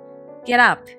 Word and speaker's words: get up: before MEN Up Up get up 盾とか起きろですね P の音は結構繋がると R みたいな音になるのでゲラのような発音になりますワワワ何いきなり